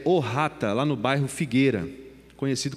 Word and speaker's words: Ohata: O vereador Edgar, ele diz que é Ohata. É a tradução dessa palavra aí que a gente está vendo, Opata, a pronúncia é Ohata, lá no bairro Figueira, conhecido como Jamique, a região ali do Jamique.